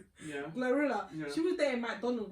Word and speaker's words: GloRilla: Say I say like bro Glorilla.